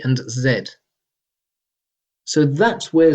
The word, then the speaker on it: zee: The reason why it's used in America is because Noah Webster, the American spelling reformer, wrote in his first dictionary It is pronounced Z.